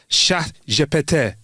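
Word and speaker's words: ChatGPT: Life is extra surreal for French speakers right now because in French phonetically chat GPT sounds exactly like cat I farted sha japete. That's how you say it.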